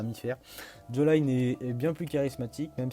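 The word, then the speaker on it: Jolyne: Ah oui, je sais pas quelle est l'idée de prononcer Jolene. Moi je prononce ça Joline, il y a un Y, pour moi j'ai envie de dire Joline.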